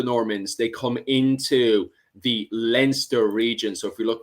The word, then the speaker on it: Leinster: Then at the bottom there, we have Munster, Leinster, there in red.